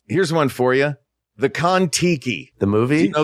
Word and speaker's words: Kon-Tiki: The Kon-Tiki. The movie? Do you know the Kon-Tiki?